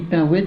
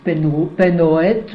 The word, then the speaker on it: Penhoët: Nous, on dit Pinouette, il y en a qui disent Penhoët, mais enfin, tu sais, à Saint-Nazaire, c'est Pinouette. C'est Pinouette.